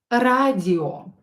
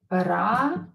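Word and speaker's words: радио: So this word will be pronounced as here, O will be pronounced as O, not A.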